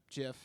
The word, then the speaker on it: GIF: say it's gif because g and i make a g sound and also write graphics